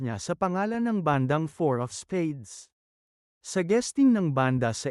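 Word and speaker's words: IV of Spades: sa pangalan ng bandang Four of Spades. Sa guesting ng banda sa It Showtime noong Miyerkules. Imbes na basahin bilang four ang IV, binasa ito ni Kim bilang IV.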